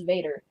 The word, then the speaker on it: Vater: John pointed out that for most of his childhood, he and his siblings called their father Vater, or more commonly pronounced as Vader.